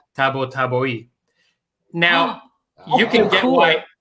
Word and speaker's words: Tabatabai: I say Tabatabai. Apparently, so my dad was you got it right. My dad was from Iran. So apparently the proper pronunciation is Tabatabai.